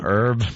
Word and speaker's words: herb: and I gave her herb I herbalist right isn't it an herb by the way we like to call them herbs if you're a like professional call it an herb the H is silent it sure is and